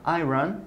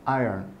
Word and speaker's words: iron: ça se dit pas iron ça se dit alain donc vraiment vous vous vous mangez en fait le milieu du mot vous le prononcer pas vous articulé par iron